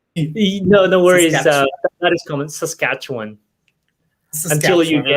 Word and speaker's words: Saskatchewan: Saskatchewan, is that the correct pronunciation? Sorry. No worries. That is common. Saskatchewan.